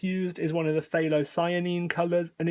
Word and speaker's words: phthalocyanine: close together phthalo it's almost like the f is kind of Forgotten in your mouth so it's phthalocyanine it's the same as the middle part of of phenol phine so a lot of people say that wrong so if you want